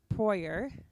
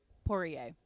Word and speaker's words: Poirier: First popularized by Anne Proyer. Oh, I definitely said that wrong. First popularized by Anne. Wait, let me check. Hold, please. Pronunciation. Poirier.